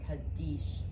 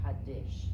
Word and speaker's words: Kaddish: Mourners are required to recite the Kaddish or the Kaddish, depending on how you want to pronounce it.